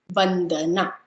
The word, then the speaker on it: Vandana: So how do you pronounce my name? Van, the, na. Vandana.